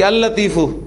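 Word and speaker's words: اللطيف: कौन सा है शमसी कैसे पता चला आपको कि पहला वाला लाम जो है वो प्रोनाउंस नहीं हो रहा बोलने में आपको य लगता है कि अ लतीफ जैसे हम प्रोनाउंस कर रहे हैं लेकिन लिखने में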